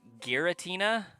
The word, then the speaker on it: Giratina: I I feel like most people pronounce that as if it had G H I or um G E E. I've heard Giratina.